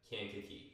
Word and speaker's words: Kankakee: Kankakee.